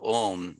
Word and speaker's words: Om: First of all, it's a single syllable word, Om, right? But it's a single syllable word that's made up of 3 syllables, akaram, ukaram, makaram, a, u, ma, okay?